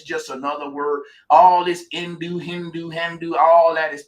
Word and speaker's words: Hindu: n d like Indonesia the H is silent in Hindu is really indu it's Indo indu there